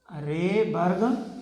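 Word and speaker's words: Rydberg: D silent होता है, that is रेबर्ग formula.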